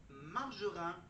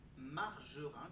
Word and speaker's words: Margerin: Margerin comme ça s'écrit comme ça se dit ou est-ce que c'est le dessinateur Cabu ?